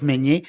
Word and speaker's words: Meynier: Meunier. À savoir que Meunier s'écrit M-E-Y.